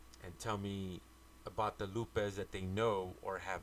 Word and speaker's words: Lupe: So for those of you who don't know, Lupe is spelled L-U-P-E, and it's pronounced Lupe. I don't understand why some people always want to put a Y at the end of my name and call me.